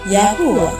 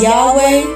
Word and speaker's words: Yahuwah: highest of them all it is later mispronounced as Yahweh Jehovah jave Etc yahuwah or Yahweh without